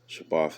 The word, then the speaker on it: Shabbat: You know, Shabbat is just how you say it in Hebrew, the Shadabar and the Tha.